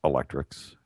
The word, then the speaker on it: ElectRx: It's known for the Electrical Prescriptions Program, or ElectRx, pronounced electrics.